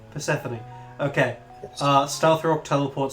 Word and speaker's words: Persephone: It's Persephone. Persephone.